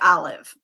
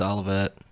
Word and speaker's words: Olivet: I always want to say Olive, but is it Olivet? I think it's Olivet. I think it's Olivet.